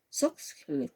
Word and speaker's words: Soxhlet: Socklet, así. Se escribe SOXHLET, ¿ya?